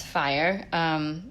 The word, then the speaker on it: Fyr: the inspiration for fire which it is pronounced as fire I kind of modernized